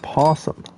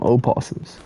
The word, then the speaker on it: opossum: And a possum. Dude, I've never seen one of those either in my life. Possum. I always call them opossums. Even though the O is silent.